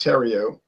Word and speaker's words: Theriot: Yeah, it's actually pronounced Theriot, but that's okay. In other words, remove the H.